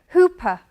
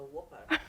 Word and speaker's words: Whopper: And he went to Burger King and he asked for a hooper. What is a hooper? A whopper. Because he'd learned who and per, so it's hooper.